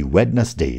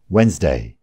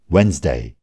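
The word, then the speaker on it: Wednesday: यो शब्द हेर्दाखेरि वेडनसडे जस्तो देखिए पनि डीको उच्चारण हुँदैन. यसको उच्चारण हो वेन्सडे. फेरि एकचोटि वेन्सडे. थर्सडे बिहिबार.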